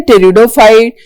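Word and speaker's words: pteridophyte: ब्रायोफाइट and then टेरिडोफाइट then टेरिडोफाइट में P silent होता है। Alright टेरिडोफाइट with P silent पढ़ते टेरिडोफाइट है पी कोसाइलेंट करके।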